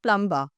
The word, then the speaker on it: plumber: The B is silent here. So, the word is plumber.